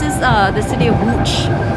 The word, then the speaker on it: Łódź: place this is uh the city of wooch it's spelled it looks like an l but it's